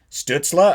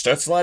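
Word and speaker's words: Stützle: But now they're pronouncing his name different. I heard Craig Button yesterday. I'm like, wait, Stutzla? I think it's Stutzla. I'm like, it's Stutzla now?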